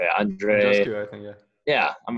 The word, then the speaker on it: Andreescu: Andreescu, I think, yeah.